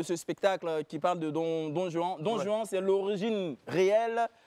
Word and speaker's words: Don Juan: On en parle, Don Juan, on en parle pour garder donc la prononciation espagnole.